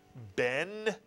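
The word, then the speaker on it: בן: Only one vowel, one syllable. If you said Ben, you are correct.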